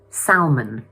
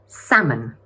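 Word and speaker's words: salmon: A lot of language learners make the mistake of pronouncing the ‘l’ and saying / sal mən/. But it should really be pronounced like this: /ˈsæm.ən/.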